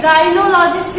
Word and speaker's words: gynaecologist: गायनिएको, देखिए गायनोलॉजिस्ट ही पढ़ा जाएगा लेकिन गायनिएकोलॉजिस्ट लिखा जाएगा।